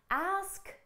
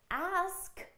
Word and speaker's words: ask: thing in ax ax there is a slight S sound but it comes at the end of the word ask does not end on an S sound okay ask ends on a sound so let's make sure